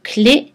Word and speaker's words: clé: Attention au mot clé qu'on prononce avec un et fermé, mi-fermé.